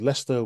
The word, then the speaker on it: Leicester: in a city called Leicester one of those annoying UK cities that is not pronounced how you think it would be when you see it written down and I've been in